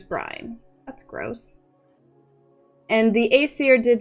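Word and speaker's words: Æsir: Aesir is correct.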